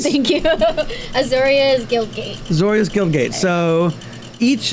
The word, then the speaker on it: Azorius: Can you help me with the pronunciation? That is Azorius. Thank you. Azorius Guildgate.